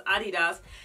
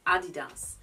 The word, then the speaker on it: adidas: the way you pronounce adidas and i just have to repeat myself that this is honestly how you pronounce adidas you don't say adidas anyway i have a